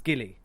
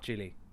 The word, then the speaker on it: Gilly: get it wrong again so it's Gilly not chilly I'm not sure how